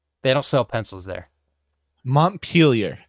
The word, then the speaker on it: Montpellier: If you're speaking an English accent, and I looked up the how to pronounce it, it says Montpellier. Montpellier. Montpellier. Montpellier. That is a very American way to say it, honestly.